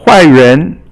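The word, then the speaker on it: 坏人: Now huai ren is a bad person. Huai is fourth tone and ren is second tone.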